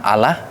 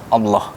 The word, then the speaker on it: Allah: Kalau sebelumnya menyebutnya Allah, kali ini dalam pronunciation dalam Islam Allah.